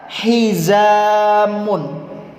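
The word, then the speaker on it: حزامٌ: pinggang dalam bahasa Arab hizamun ya hizamun jadi menggunakan hak tipis hizamun artinya adalah ikat pinggang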